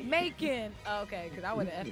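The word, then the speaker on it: Macon: I got people that literally come here that pronounce my city name completely wrong they'll say may come like like it was supposed like a French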